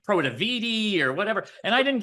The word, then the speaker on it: Protiviti: the decision when management were to recommend that Protiviti was going to come in and help them build out new business processes or to help them with their financial reporting.